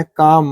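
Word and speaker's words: calm: मतलब होता बादाम एम के पहले लाया तो साइलेंट हो गया यहां पर एम के पहले लाया काम मतलब शांति या शांति अनुभव करना पाम इ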